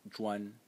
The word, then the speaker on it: 磚: The first one is pronounced zhuan.